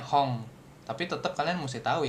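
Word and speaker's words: 本: Misalkan dikasih tahu kanj hong ya bacanya hon ini milihnya tetap jangan hong gitu kan.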